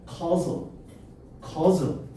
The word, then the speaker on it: causal: 발음은 causal 임과 관계의라는 뜻이야.